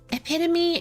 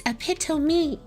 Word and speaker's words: epitome: some color interesting epitome and pronouncing it epitome when reading loud yeah that's until I played like something called dx2 which is another gotcha game that is like dying I think um I would pronounce it as epitome but in reality it's epitom me you'd know the pronunciation